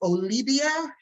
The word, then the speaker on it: Olivia: And the V is pronounced like a B. So my name is Olivia.